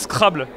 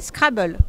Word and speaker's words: Scrabble: En fait, en français, on le prononce scrable alors que ça vient de l'anglais et les québécois, il disent scrable. Ouais, merci. On dit scrable. Scrable. Scrable. Scrable en français mais en anglais scrabble.